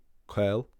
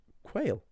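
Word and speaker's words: caol: Cael, very important word. Cael is the Irish word for slender, and people will pronounce it as the English word quail, and they will use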